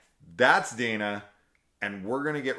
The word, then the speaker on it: Dina: In that, we're gonna play the game, and it's gonna be pronounced Dinah.